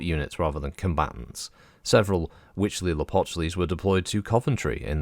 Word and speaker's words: Huitzilopochtli: I checked a few different places and they all seem to pronounce the H-U-I-T as a wit noise, Huitzilopochtli. While others were saying Huitzilopochtli, but I think it's Huitzilopochtli, so I don't know.